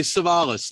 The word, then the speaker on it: Savalas: hey good morning everybody savalas like uh telly cevallos yeah that's right yeah